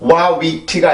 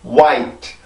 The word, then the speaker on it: white: 앞에 있는 모음만 변형이 되고 그 다음에 있는 모음은 원래 소리를 발음을 해주면 돼요. 절대로 wawit가 아니에요. wawit 이게 아니라 white 하나에만 영향을 주면 됩니다.